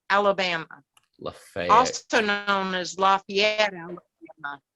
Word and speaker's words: Lafayette: So, and the location of that event is Lafayette, Alabama. Lafayette. Also known as Lafayette, Alabama. Oh, Lafayette. It's in Chambers County. But they don't pronounce it French here in Alabama.